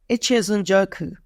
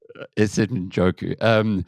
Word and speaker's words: Njoku: How do you say her surname? Njoku. Njoku.